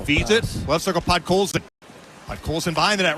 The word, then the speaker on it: Podkolzin: How do you pronounce his name? Podkolzin. Podkolzin.